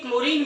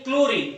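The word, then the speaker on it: chlorine: तो इसमें क्लोरीन में आगे का जो CHLO है ना, तो H इसमें साइलेंट है, तो H इसमें नहीं आएगा, साइलेंट है।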